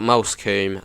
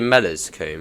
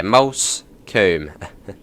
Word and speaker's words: Moulsecoomb: Just trying to think of the funniest pronunciation I've heard of Moulsecoombe. Probably Mellerscoombe, or something like Mollerscoombe, or something like that. But yeah, Moulsecoombe.